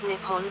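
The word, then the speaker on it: 日本: Japanese is written using the kanji and is pronounced Nippon or nihan dot nine before was adopted in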